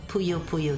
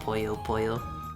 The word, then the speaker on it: Puyo Puyo: had to make sure you guys told me last time it is not pronounced poo poo I had to make sure to say it right thanks for the stream